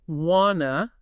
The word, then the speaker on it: wanna: The power phrase is wanna, as in want to, pronounced W-A-H-na.